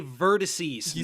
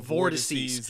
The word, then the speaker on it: vertices: You're trying to say vertices, not vortices.